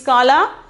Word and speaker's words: काला: Okay, kala, pronunciation is kala.